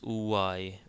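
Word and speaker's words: ⲟⲩⲁⲓ: Yota in this case this combination of letters is pronounced as UI UI and UI is actually a Coptic word that is means one means the number one UI so again we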